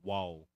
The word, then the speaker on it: Waw: Yeah, that's it's a kind of a funny pronunciation, but it's wow, WAW in yeah, wow.